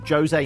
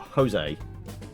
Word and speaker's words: Jose: So actually, Jose, not Jose. But he's not pronouncing it with a Spanish dialect.